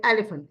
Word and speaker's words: elephant: I would like to say that this is pronounced as F. Okay. Like phone. We say phone. We say elephant. Elephant.